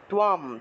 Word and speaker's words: ত্বম: মনস্যন্তে ত্বম, মনস্যন্তে, মন এখানে দেখুন অনুসার শব্দের মাঝখানে আছে, তাহলে মন, মনস্যন্তে ত্বম, তয়ের নিচে বফলা থাকায় তুয়া উচ্চারণ, আর অনুসার আছে বিদায় ম উচ্চারণ করতে হবে, আর দন্তস্ব উচ্চারণ হলো স, তাহলে মনস্যন্তে ত্বম মহারথঃ, বিসর্গ থাকলে হ উচ্চারণ, মহারথঃ।